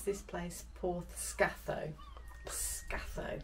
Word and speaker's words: Portscatho: a nice chat to some locals and you pronounce this place po scath scao not SC we've been calling it for the